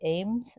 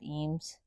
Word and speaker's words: Eames: By the way, I know some people say Ames instead of Eames, but people who worked with him said it's pronounced Eames, so I'm sticking with that. So they built 25 homes